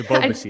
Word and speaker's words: Ebobisse: I kept forgetting how to pronounce it. It's Ebobisse. That's what they said on the broadcast, at least.